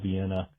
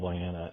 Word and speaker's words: Vienna: debates and everything else would con consistently call it Lewisville Vienna uh despite knowing that it's Lewisville Vanna and somehow he never got punished for it politically.